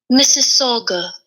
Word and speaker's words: Mississauga: guys could hear that let's say it one more time Mississauga Mississauga okay I didn't know that but that's cool Mississauga I learned how to say it I learned how